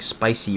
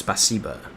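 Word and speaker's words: спасибо: I was saying it like spicy, but it's spaca.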